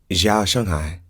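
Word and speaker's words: 早上好: actually meant and so he shared that it's zhao shanghai shanghai and he said don't say it like that he said just say irregular like you're just saying good morning to a random person on the street so it's like jean i'm sorry zhao shanghai i'm doing it wrong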